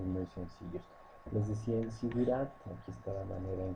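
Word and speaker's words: zigurat: a nombrar como los sigurat. Sigurat se escribe con Z, Z-I-G-U-R-A-T.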